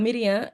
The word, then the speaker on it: Miriam: el significado porque y pero Miriam es la pronuncia para mí más correcta porque según la vocalización masorética Eso es una cosa aquí. Eh, los el texto hebreo no tenía vocales. Entonces, los mazoretas después de Cristo vocalizan ese texto y en el nombre de Miriam se pone la men, la Jire. Entonces, que es una I, realmente vocalizado como i, la rhita ahí que